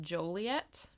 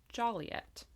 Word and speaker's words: Joliet: which is uh I I pronounced this town Joliet it's pronounced Joliet H so wrong on that again sorry everyone